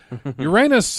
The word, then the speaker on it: Uranus: of Uranus which is pronounced the way any self-respecting class clown would say it Uranus it's along historic route